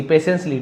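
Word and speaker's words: patiently: पेशेंसली टी को नहीं पढ़ेंगे।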